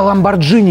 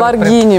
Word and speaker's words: Lamborghini: У тебя Ламборджини, ёптвою, ты за десятку вот такая... Ламборгини, мальчик мой, пожалуйста, не позор. Мы в Петербурге говорим Ламборджини.